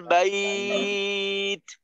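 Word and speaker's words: بيت: শেষে কিন্তু তায়ের একটু বাতাস ছাড়তে হবে, যখন তায়ের যজমের উচ্চারণটা করব বাইত, টান শেষে তার মাখরাজে গিয়ে আওয়াজটা আটকাবে, যখন ওই মাখরাজ থেকে আলাদা হব তখন একটু বাতাস বের করব।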